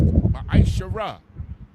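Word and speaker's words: מעשר: Means 10th in the Hebrew and is pronounced Ma'ashara.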